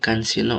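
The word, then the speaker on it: 関心: Nah, karewa anu kunino bungkani nani nani kansino moteiru. Kansin ini bacanya kansin.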